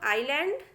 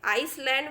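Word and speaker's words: island: नहीं करना है तो इसको बोला जाता है बच्चों आईलैंड जिसे लिए आम बोल-चाल में आईसलैंड भी बोलते हैं लेकिन वह गलत है यह लिखा है आयरलैंड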